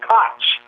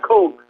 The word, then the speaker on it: Koch: and I was wondering pronounced Koch that's not coke I was never really